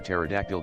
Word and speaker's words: pterodactyl: can't you hear a pterodactyl going to the bathroom the p is silent is silent the p